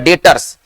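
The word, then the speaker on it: debtor: court in joint the डेटर्स है ना इसमें बी साइलेंट होता है बी नहीं पढ़ा जाता है इसको जब उच्चारण करेंगे तो पढ़ेंगे डेटर ठीक है ना डेटर्स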